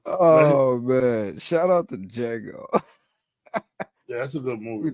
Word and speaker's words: Django: Shout out to Django. Yeah, that's a good movie. With man. the silent D is silent.